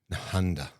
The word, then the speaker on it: Nehanda: Welcome back to the Ranting and Raving podcast with myself, Mickey Williams, and Nehanda.